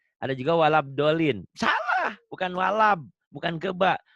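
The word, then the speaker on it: ولا الضالين: Ghairil maghdubi alaihim waladdallin. Kita tidak boleh sombong, tapi boleh buktikan. Kadang-kadang yang pengurus masjid yang yang sorbannya tebel, kemudian udah berjenggot dan segala, kadang-kadang bacanya waladalin. Ada juga walabdolin.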